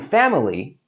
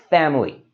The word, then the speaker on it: family: And there you can see, it's got that middle I that we don't really need to say. So instead of saying family, we can just say this as two syllables, family.